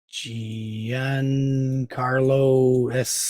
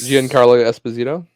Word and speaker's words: Giancarlo Esposito: voiced by uh I can't say his name Gian Carlos Giancarlo Esposito not as is it yes it is Esposito